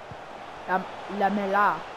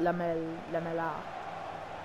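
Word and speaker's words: Lamela: Lamella. Lamella. That's how you say it. Not Lamella.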